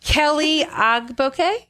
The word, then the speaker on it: Kelli Ogboke: Kelly Agbo. Yes, very I have it right. Okay, fantastic. So, um, we she her the name of her company is Kelly Agbo Design Management.